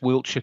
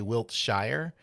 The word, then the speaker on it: Wiltshire: You did pronounce Wiltshire correctly. Yes, I you know why my instinct was to say Wiltshshire and I'm like right if I want to